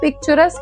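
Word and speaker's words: picturesque: नाउ पिक्चरस के अगर आप स्पेलिंग देखोगे ना तो आपको कुछ-कुछ साइलेंट वर्ड्स दिखेंगे। राइट? तो वो साइलेंट अल्फाबेट्स दिखेंगे। राइट? बट इसका जो प्रॉपर प्रोनाउंसिएशन होता है वो पिक्चरस ही होता है।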